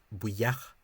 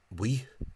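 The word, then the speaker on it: buíoch: So the word for thankful, buyach, which the Caighdeán Oifigiúil misspelling suggests that it's only one syllable. Bui, completely wrong. In Ulster, including Louth and Meath, County Meath, and presumably North County Dublin as well, the word remains disyllabic, two syllables. Buyach.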